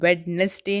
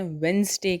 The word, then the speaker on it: Wednesday: WEDNESDAY इसे हम वेडनेसडे नहीं कहते हैं, वेंसडे कहते हैं, क्योंकि इसमें डी साइलेंट हो जाता है, इसलिए हम इसे वेंसडे कहते हैं।